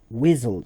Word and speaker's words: WSDL: neatly exposed via xml-based whistle specification wizzle is that acronym wsdl but instead of pronouncing this wsdl we call it quickly whistle so a weasel